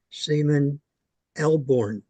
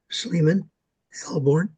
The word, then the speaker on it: Sleeman Elborn: This model was built by Seaman Elborn. Now, I hope I pronounce his name right. It's Sleeman Elborn, and he's from the Sarnia area.